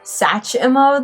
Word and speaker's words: Satchmo: They do pronounce Satchmo as Satchmo, though, so I put that E in there, but that's not supposed to be in there, technically.